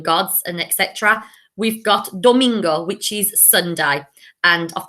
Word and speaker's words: domingo: and etc., we've got domingo, which is Sunday. And I've put a picture here of a flamingo because I think of domingo, flamingo. It rhymes, so that helps me associate that word.